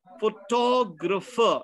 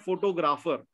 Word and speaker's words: photographer: Photographer, not photographer. The correct pronunciation is photographer.